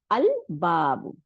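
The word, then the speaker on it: الباب: আবার আসি বার মধ্যে, দেখেন বাবু মানে দরজা, তাহলে আল বাবু, তাই না? লামটা উচ্চারণ করলাম এবং বা ডবল হয় নাই, তাই না?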